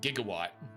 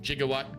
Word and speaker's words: gigawatt: fact that, you know, Marty says, "What the hell is a gigawatt?" when really it's gigawatt. But, but you know, Christopher Lloyd, jigawatt gigawatt. I wonder who gave him that pronunciation.